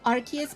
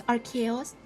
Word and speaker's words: Arceus: But I call him Arceus because in German it's Arceus, or whatever. So, Arceus is just kinda how I translate the German pronunciation into English.